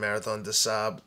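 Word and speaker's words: Marathon des Sables: And at Marathon de Sahab, it's spelled DESSABLES for people listening. Marathon de Sahab is the French pronunciation.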